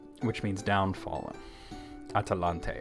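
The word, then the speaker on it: Atalantë: As a matter of fact, it was later, after its destruction, was called by the elves Atalan, which means downfallen. Atalante, actually, not Atalan. I said it wrong.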